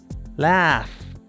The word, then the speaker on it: laugh: Y para conocer ese sonido final, tienes que conocer la pronunciación correcta de la palabra. Por ejemplo, aquí tienes una complicada. Reír. Laugh.